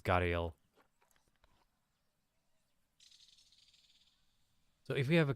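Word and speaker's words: gharial: Or Gariel, not Garviel. I combined the two stupid pronunciations there. Should be Gaviel, but in English it's Gariel.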